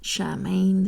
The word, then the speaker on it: Samhain: course we're gonna celebrate Samhain Charmaine if you say it like that Halloween and it's a